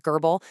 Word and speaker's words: GRBL: And yeah, it's pronounced gerbal.